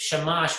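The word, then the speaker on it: שמש: hebrew but uh but it's shamash which means servant it's it's obviously that first syllable part of the second syllable does sound like shama but it's not related okay shimash is the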